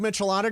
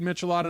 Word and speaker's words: Michelada: You know where else you can have a good Michelada? And I know this because I Is had it Michelada or Michelada? That's probably a more authentic, Michelada. authentic pronunciation.